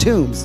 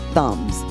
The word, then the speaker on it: Thumm's: Now remember, it's pronounced Toombs, not Thumbs.